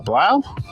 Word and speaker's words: Blau: Blau?